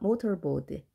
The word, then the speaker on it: mortarboard: 자동차 모터가 생각나는데 그 모터와는 다른 스펠링이죠. 자, 발음은 비슷합니다. motorboard.